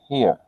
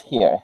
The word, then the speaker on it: her: Escuché que en la cuarta pronunciaste I haven't seen here. Escuché Yes, que no es here, her. her.